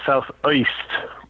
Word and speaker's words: South Uist: And I heard about an island off the northwest Scottish coast called South Uist, UIST. It's pronounced, one of those little islands.